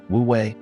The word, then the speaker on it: wu wei: Let us now talk about wooi, the art of effortless action. This brings us to the most famous and practical tauist concept. Wui, pronounced wui.